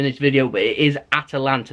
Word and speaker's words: Atalanta: video but it is Atalanta there is an a after the T it isn't Atlanta that's a city over